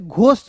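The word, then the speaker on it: ghost: जी एच एच ओ एस टी तो इसे घोस्ट नहीं पढ़ेंगे। जी एच यहां पे इसमें एच साइलेंट कीजिएगा।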